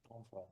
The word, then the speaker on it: Onfray: Michael se escribe Ajá, Michael Onfray, así como suena, Onfray.